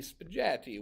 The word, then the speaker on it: spaghetti: wanted uh oh spaghetti so the problem is if you just went like this that would be spagetti which is not the word so